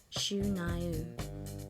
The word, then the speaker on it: Shania: Thus, our heroine began the decade by shedding her real name Eileen and adopting the Ojibwe Indian name of Shania, pronounced Shu-Naiu, meaning I'm on my way, and headed to Nashville to work on her first record.